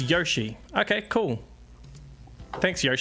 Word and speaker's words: Yoshi: as well all right there we go you pronounce Yoshi wrong it's Yoshi okay cool thanks Yoshi um drink Jin